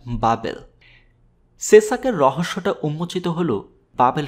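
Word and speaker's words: בבל: BBL হিব্রুতে উচ্চারণ করা হয় বাবেল।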